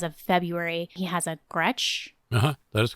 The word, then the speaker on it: Gretsch: I think as of February, he has a Gretsch. Uh-huh, that is correct. Which is news to me. Is that how it's spelled, or how it said?